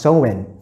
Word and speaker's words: Samhain: ago to the ancient Celtic festival known as Samhain, right? Or it's pronounced Samhain.